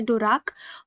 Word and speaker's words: Dvorak: में देखिए जो रख इनको प्रोनाउंस ऐसे करना है जो रख और मीटरोलॉजिस्ट द और